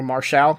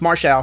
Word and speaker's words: Marshall: We go backstage with the Factory, and QT Marshall, or Marshall, keeps telling Tony, first of all, his name is pronounced Marshall, not Marshall, so everybody get that right.